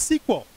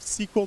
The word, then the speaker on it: SQL: created by IBM yay and originally called its sequel structured English query language thus the stupid pronunciation of sequel today as sequel they had to change